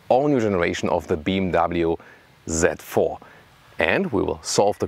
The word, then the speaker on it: Z4: design for the new z4 by the way i always say z4 because the german pronunciation would be set fear so z4 would come close to it you know some say